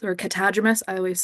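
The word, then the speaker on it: catadromous: You might notice that silly word, the catadromus or catadromus.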